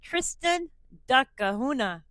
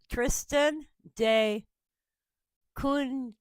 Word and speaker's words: Tristan da Cunha: But the name of this island is Tristan da Cunha, or Cunha.